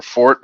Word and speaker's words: Forte: is in it or Fort the Forte well it's really Fort but Forte and 't more be yeah he says Forte but actually the correct pronunciation is Fort but like know mean